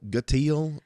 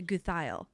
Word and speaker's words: Gutheil: Gutile. Gile. You know, I was getting like a My family pronounces it gutile. My family that's a Swiss Deutsch, they pronounce it Guthile.